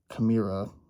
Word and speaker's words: Chimaira: I know last time people told me I mispronounced it. Chimaira with their self-titled album, Chimaira.